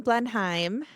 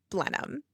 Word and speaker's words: Blenheim: We were saying Blenheim, but we were corrected in New Zealand by a New Zealander that it is pronounced Blenheim.